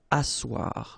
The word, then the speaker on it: asseoir: Asseoir, okay, remember you've got this beautiful but then phonetically doesn't exist. Asseoir, remember double S here, it's really strong s, really strong S, okay, so asseoir.